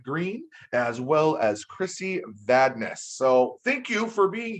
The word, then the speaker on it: Vandais: My name is Krisi Vandais. Like you said, it rhymes with badness.